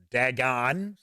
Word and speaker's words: Dagon: Angelic ones which is 1920s esoteric order of Dagon Dagon some people pronounce it that way sweet that's very cool